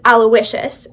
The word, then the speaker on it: Aloysius: But I've been told it's Aloysius, and I never would have guessed that.